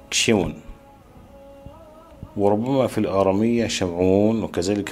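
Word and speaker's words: שמעון: وسيمون في العبرية ينطق شيمون، وربما في الآرامية شمعون، وكذلك في العبرية شمعون على ما أظن.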